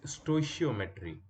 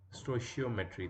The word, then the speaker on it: stoichiometry: And this word is stoichiometry. Stoichiometry, that's how you pronounce it.